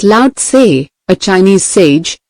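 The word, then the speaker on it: Lao-tse: That organization one 25 centuries ago, Laay, pronounced loud, a Chinese sage, said some things that readers of this book might use today.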